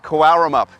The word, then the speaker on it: Cowaramup: I'm and I'm here today in Karamup.